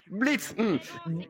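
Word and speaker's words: Blitzø: On prononce pas le haut. Blitz, Blitz, je sens en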